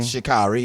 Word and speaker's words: Sha'Carri: Is that how you pronounce her name? Sha'Carri, yeah.